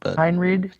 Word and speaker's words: Henreid: is that his name how do you say it I say Henry Henreid to be hundred he